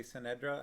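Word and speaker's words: Ce'Nedra: emperor's daughter sanedra which i i'm guessing at how her name is pronounced ce apostrophe n-e-d-r-a so i'm i'm gonna say synedra i think that's how i've always kind of read it in my head and belgra through literal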